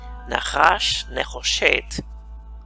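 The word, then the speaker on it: נחש נחושת: una serpiente de bronce, Nahash Nehoshet, así se pronuncia en hebreo, serpiente de bronce, Nahash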